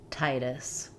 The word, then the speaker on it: Titus: For Titus, letter I says the I like in tight or night. In American English, we flap the T. It sounds more like a light D. Titus.